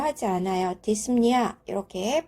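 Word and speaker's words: dyspnea: 뜻하는 용어가 합쳐진 것이죠 두 개를 연결해서 읽어보면 디스 프니아지만 실제적으로 핀은 무음입니다 그래서 우리가 발음을 하지 않아요 디스니아 이렇게 발음을 합니다 호흡이 비정상적이다 호흡이 어렵다 그러니까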